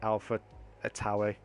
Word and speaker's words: AlphaTauri: For you UK fanatics, not me with that, but that's how you say it, AlphaTauri.